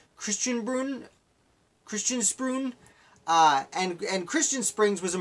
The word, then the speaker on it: Christian Springs: He lived in a town called Christian Springs, which the pronunciation they used was Christian Spruun.